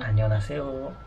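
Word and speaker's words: 안녕하세요: Annyeonghaseyo.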